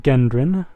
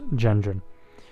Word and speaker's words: Gendron: It looks like Gendron, but it is pronounced Gendron.